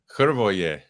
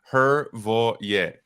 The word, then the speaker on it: Hrvoje: Hrvoje. I told you. I was Three syllables. Kind of like Hrvoje. Literally means Croat.